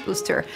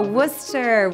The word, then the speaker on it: Worcester: to the city i didn't know how to pronounce booster so i was like is it orchestra is it us ah worcester i think worcester is a city on the rise for sure